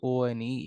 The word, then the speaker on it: won: the race it is the pronunciation of w-o-n is similar to o n e it is one not one he won the race